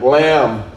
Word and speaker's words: lamb: Lamb. Lamb. The The B is silent.